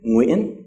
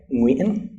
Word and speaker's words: Nguyen: Although in Vietnamese, it can occur in the beginning of a word, as in Nguyen, right? Nguyen. And this is one of the most difficult words for foreigners to say, the name Nguyen.